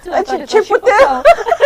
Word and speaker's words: Chipotle: We went to Ship Hotel. How do you pronounce it? Chipotle. Chipotle.